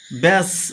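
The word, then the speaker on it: batch: বি এটি সি এইচ ব্যাস বির উচ্চারণ হলো না।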